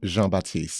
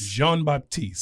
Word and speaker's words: Jean-Baptiste: Jean-Baptiste. Jean-Baptiste.